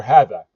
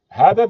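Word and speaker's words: هذا: Just as we learned in lesson one for hadha, hadha, the alif is omitted, and it's written hadha.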